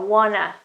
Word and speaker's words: wanna: Okay, it's just something you don't actually pronounce the T sound, the consonant there, and it's Well, it's just a phonetic transcription somehow. Wanna, want to, and then it becomes wanna.